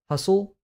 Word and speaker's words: hustle: Uh core coup both have letters that do you do not pronounce hustle you don't pronounce the t as much receipt ah question twist